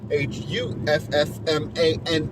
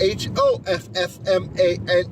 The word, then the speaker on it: Hoffman: name is so weird i pronounce it huffman it's not hoffman uh i don't if